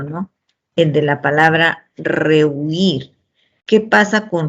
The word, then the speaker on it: rehuir: ¿Qué pasa con rehuir? ¿Cuántas sílabas tiene para empezar? Entonces decimos, ahí tienen que tener en cuenta que la palabra tiene 2 sílabas, ¿no? Y que el acento recae en la última sílaba.